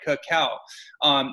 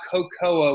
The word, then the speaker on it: cacao: Cacao, not cocoa, which is a British term that for people that couldn't pronounce cacao, so they called it cocoa or cocoa, which is, you know, slightly offensive.